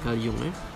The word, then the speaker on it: Carl Jung: Ejaan dia memanglah Carl Jung, tapi sebenarnya sebutan dia Carl Jung.